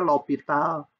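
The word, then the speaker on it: l'Hôpital: itu menghitung limit fungsi lopital mah bacanya lopital itu menghitung limit teorema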